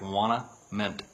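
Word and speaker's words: Ouanaminthe: way too long but it sounds like wanna mint so we say want a mint and wanna mint is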